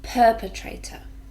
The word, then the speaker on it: perpetrator: the perpetrator perpetrate or four syllables and we stress the first one perpetrator and this is somebody